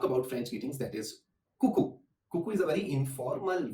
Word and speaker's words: coucou: when we talk about French greetings, that is coucou. Coucou is a very informal way of saying hi in French. And another word for hi in French is salut. So the first word is coucou and another word is salut.